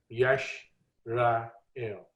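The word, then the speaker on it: ישראל: तो जिसको आप इसराइल कहते हैं, यश रा एल।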